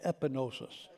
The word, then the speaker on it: epignosis: 4 that's gnosis but this word is epinosis say epinosis this is personal experimental